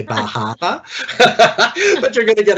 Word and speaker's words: Bar Harbor: opportunity to go to Bar Harbor. And I'm sure somebody from that part of the world would really criticize me for the way I've pronounced that. You have to say Bahama.